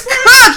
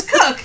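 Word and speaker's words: Cooke: That's Cook. You should just take the E off. I should. It's Cook.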